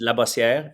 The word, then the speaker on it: Labossiere: It's French, so it's in French it's Labossiere, but in English it's I took French Labas.